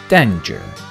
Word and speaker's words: danger: E after G makes this G sound J, soft G. Danger."